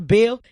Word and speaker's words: B. Hill: bill in the H is silent alright learning on the